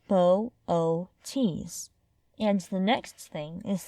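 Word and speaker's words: Boötes: Laurie glancing at the sky is to pronounce its name correctly Bootes is pronounced bow o tees and the next thing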